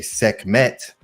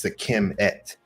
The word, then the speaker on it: Sekhmet: It's a lot of us say Sekhmet because that's kind of how it sounds when you spell it out like that. But really, it's Sekim with the et at the end, the T that makes a word feminine. So really, it's Sekim et or Sekim T, Sekimet.